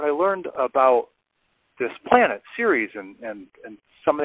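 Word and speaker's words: Ceres: me about this planet spelled c which is pronounced Series so now I'll share a couple of these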